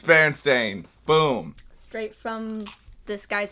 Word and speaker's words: Berenstain: So all you Berenstain people out there, you're wrong. It's Berenstain.